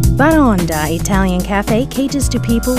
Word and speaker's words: Baraonda: what's the name of this restaurant it's pronounced barranda baronda italian cafe caters to people with a tasteful